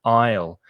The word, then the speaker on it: aisle: of that word a-i-s-l-e the s is silent so the pronunciation is exactly the same as the contraction with i will i'll i'll go i'll have it's exactly the same isle and you find an